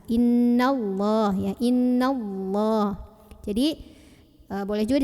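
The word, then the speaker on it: إِنَّ اللَّهَ: Dari nun langsung masuk ke lah. Innallah ya, innallah.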